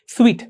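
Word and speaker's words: suite: स्वीट, इसका pronunciation स्वीट होगा. Okay, SWEET वाले स्वीट के जैसा.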